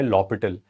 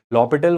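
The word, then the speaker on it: L'Hôpital: by infinity there is a rule suggested by lital. Lital was a French mathematician and he has suggested a rule.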